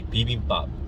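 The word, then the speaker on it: bibimbap: the food called PE which if I were to pronounce it as like you know in my native tongue and accent I would say be be pop like be be pop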